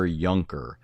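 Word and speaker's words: Juncker: Uh his name is spelled J U N C K R but it's Gunther Yunker and it's called Jesus and the angel of the Lord.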